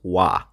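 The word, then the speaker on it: は: subject of a sentence we actually do not write this particle with our hiragana wa we use the hiragana ha to write this particle so every time the particle y is used we're going to write the hiragana ha but we're going to read it as wah for example if we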